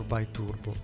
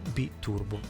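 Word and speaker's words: biturbo: The champion one will have a Porsche flat 6 cylinders, 3.2 liters, B-turbo or bi-turbo, as you say as an Anglo-Saxon, but the correct pronunciation is B-turbo.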